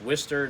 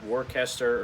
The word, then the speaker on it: Worcester: and yes it's pronounced worcester not warcaster or worchester or wooster as a lot of people think it's worcester like w-i-s-t-e-r even though it's spelled w-o-r-c-e-s-t-e-r anyway all that aside